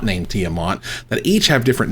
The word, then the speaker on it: Tiamat: comes tiamat right that's how you say it tiamat yeah say tiamat that's right i can't say